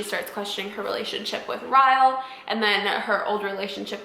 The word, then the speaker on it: Ryle: I'm pretty sure you pronounce his name Ryle, which is really funny because in the beginning of the book, I thought it was Riley, but it's not Riley. I think it's Ryle.